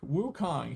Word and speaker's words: Wukong: Wukong.